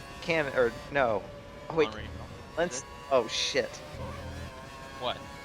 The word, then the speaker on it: Montreal: It's Montreal. It's not ta. It's tra. Montreal.